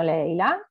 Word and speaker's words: Laila: Eccomi, salve a tutti, sono Leila, Leila. Si scrive Laila, ma si pronuncia Leila, okay.